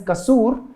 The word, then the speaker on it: Kasoor: So if the song's name is Kasoor, then how many? Kasoor. K-A-S-O-O-R, which goes Kasoor, two syllable word.